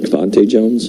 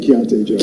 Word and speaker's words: Keontae: And is it Cavante Jones? Am I saying it right? Keontae Jones. Keontae Jones.